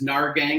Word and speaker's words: Nahrgang: perfect storm of things my last name is NAR gang it has the silent H and its people are